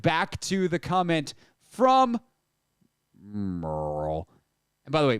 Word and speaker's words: Merle: and by the way Merle is spelled m-e-r-l uh Merle Garrett Merle an absolute gem but because it's just m-e-r-l we refer to him now and forever forward as Merle uh I I said